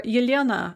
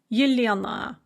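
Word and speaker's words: Елена: or ilyana in russian the ah sound at the end of the name is unstressed in both versions and is pronounced as a kind of an uh or what's called a schwa sound so yuliana in both cases the ah is not pronounced ah but uh so how does vowel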